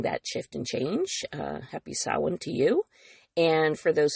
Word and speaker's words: Samhain: Those of you who celebrate Samhain, or Samhain is actually how it's technically pronounced, which is basically a